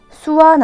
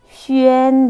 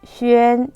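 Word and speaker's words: xuan: 수완 아니에요. 슈엔 되는 거예요. 읽을 때는 오히려 점땡유로 돌려줄게요. 주 아니고 뭐다? 쥐. 추에 아니고 뭐다? 취에. 수완 아니라 뭐다? 슈엔 되는 거예요. 전체 읽어볼게요. 쥐, 취에, 슈엔.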